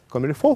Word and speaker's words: comme il faut: «Комильфо» — французское слово, только пишется «comme il faut», переводится как «так, как надо».